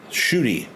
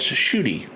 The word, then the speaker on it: Ncuti: I'll tell you that shooty oh you pronounce ncuti as shooty thanks for letting me know I'm going to try to remember that I didn't know NC made a sh sound yeah I like the